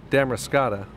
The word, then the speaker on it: Damariscotta: along and say hi tell me I'm pronouncing the name of the place wrong it's really damn race cata people are really friendly